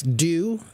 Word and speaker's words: due: Do Yeah, which is pronounced just like the letters D-O, to do something.